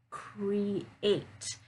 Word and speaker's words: create: this one right here, create. So there, eight, it's longer, that vowel sound is longer. You'll hear it, right? It's clear.